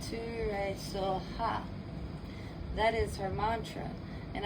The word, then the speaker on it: Soha: TARE, Too-tah-ray, TURE, So-hah. That is her mantra. And I'm going to spell it out for you guys, okay?